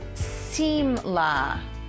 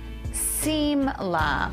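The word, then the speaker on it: שמלה: The dress is pronounced simla, simla for dress.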